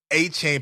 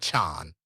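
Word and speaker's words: Achane: by the way achan y'all a chain pisses him off he doesn't want to be called a chain even though that's how it's spelled it's Devin aan all right um but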